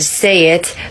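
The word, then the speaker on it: שית: Another one is Shin, Yod, and Tav together. It is read say it, but the English word is thorns.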